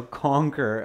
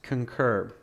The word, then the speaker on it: concur: would catch that so conquer uh to give opinions yeah it's not conquer it's concur and i believe the correct spelling is that concur okay so yeah june not conquer but concur concur the pronunciations concur